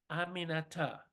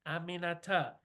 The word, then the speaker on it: Aminata: After 3 tries, she got it. Aminata. 4 syllables. It's really not that hard. Aminata, I told her.